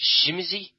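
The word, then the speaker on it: Tzimisce: off with is the Tsumitse. Now, you I noticed pronounced it somewhat differently. I believe it's a Polish word. And I work with some Polish people, and they pronounce it Shimizi.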